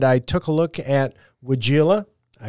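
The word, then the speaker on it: Weigela: the greenhouse and I took a look at wagila I pronounced that right wagila right yes yes Vino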